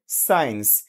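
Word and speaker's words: science: না ওকে এরপর দেখেন সাইন্স এস সি আই এন সি সাইন্স এটা আমরা ছোট সময় পড়েছি সাইন্স মানে বিজ্ঞান কিন্তু এই যে এখানে যে সিটা উচ্চারিত হচ্ছে না কেন হচ্ছে না এটা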